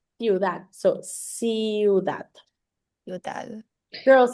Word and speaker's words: ciudad: So ciudad. ciudad. Girls, So it's ciudad is how it's pronounced.